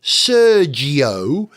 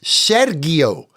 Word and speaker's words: Sergio: His name is not Sergio, it's Sergio. It's not Sergio, it's Sergio Perez.